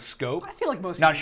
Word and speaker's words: Schoop: guy is it because people finally learn how to pronounce his name is scope scope Dutchman Jonathan Schoop yes